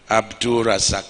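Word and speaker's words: AbdulRazaq: The correct pronunciation of my brother and governor and our AGF chairman is Malam Abdul Rahman Abdul Razak.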